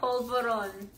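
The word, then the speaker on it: polvorón: Pol. Vo. With a V. Just say the whole thing, let me try. Polvoron.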